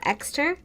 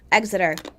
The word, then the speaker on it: Exeter: town in Rhode Island how do you say that extra oh yeah Exeter exiter out of here Exeter it's the 19th century it hits Exeter I like to say extra but whatever um and this